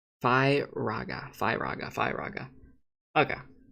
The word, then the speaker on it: Firaga: says on reddit that they pronounce it fear firaga see fi raga fi raga fi raga